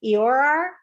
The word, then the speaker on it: llorar: Llorar. Llorar. Llorar. Okay. It starts with the just llorar. Okay. Llorar. Okay. Llorar. Llorar. Anything that ends in an AR, we punch the last syllable a little bit harder.